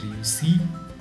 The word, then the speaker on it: réussit: Il réussit. But I don't pronounce the last t.